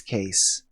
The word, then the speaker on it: Cayce: nerd innocence that somehow she accepts no it's case case actually she finds herself explaining it should be pronounced Casey like the last name of man